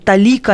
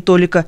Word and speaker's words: толика: На самом деле катарсис, ударение это из древнегреческого. Катарсис, а не катарсис, пеня, а не пеня, талика, а не толика, мизерный, а вовсе не мизерный.